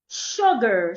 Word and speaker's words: sugar: Sugar. So it's not sugar. It's sh sugar.